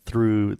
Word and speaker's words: threw: we talked about it no difference in pronunciation it's the same damn thing through through I'm going to the drive through and my dad threw the football with me